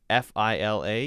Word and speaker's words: Fila: And then F-I-L-A is Fila. I've heard Fila and Fila. I've always said it as Fila, like la, Fila. And then the other ones I don't even know about, so we'll skip those.